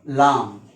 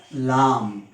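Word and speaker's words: لام: this shape without any typical mark is called lam it's pronunciation in english is l a a m lam it is a light letter so it can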